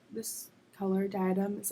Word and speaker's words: Diadem: This is called Diadem, which, if you've seen Harry Potter, that's how you pronounce it.